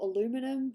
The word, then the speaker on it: aluminum: I suppose it depends on where you're from because we use both tinfoil and old aluminium or aluminum, however you want to say it. Aluminium, that's how we say it. It's how we say it in Aussieland.